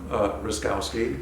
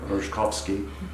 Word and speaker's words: Ruszkowski: My name is Ruszkowski. That's how we pronounce it in California. In Poland, it would be more like Ruszkowski.